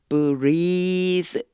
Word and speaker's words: breathed: breathed 요 느 발음이 되게 우리나라 사람들은 좀 어려워요. 혀를 살짝 깨물으면서요. breathe 그리고 뒤에 이제 드가 왔잖아요. 그러니까 breathe 이렇게 돼야 되는데 드가 거의 발음이 안 나요. 그래서 그냥 breathe 이 정도 이제 생각해 주시면 돼요.